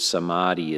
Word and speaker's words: Samadhi: in things this word Samadhi is more or less the first syllable is saw which means together and